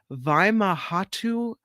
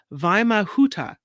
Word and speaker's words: Vimahuta: Vimahhatu. No, I said it wrong. Vimahuta. There it is.